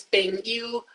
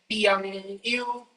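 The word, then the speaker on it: piang yu: Some people pronounce it as ping you, but in the recording, or rather in the dictation, I said piang you, right?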